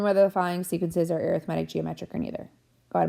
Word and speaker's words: arithmetic: Oh, also just as an FYI, I am not pronouncing arithmetic wrong. It is arithmetic. It is spelled the same way as arithmetic but it is not the same meaning.